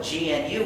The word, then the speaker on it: GNU: not follow the dictionary if you call it the new operating system you'll get people confused and it's actually not true you see we've been working on it for almost 30 years and we've been using it for over 20 years so it's not new anymore it's not the new system it's the gnu system there's another erroneous pronunciation